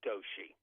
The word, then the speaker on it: Doshi: his name is Rush I think it's pronounced Doshi and d-o-s-h-i I believe he's done